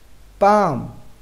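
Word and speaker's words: palm: रहेगा शान mains silent पैम mains हथेली यहां पर एम से पहले तो यह क्या रहेगा साइलेंट इसका मतलब होता है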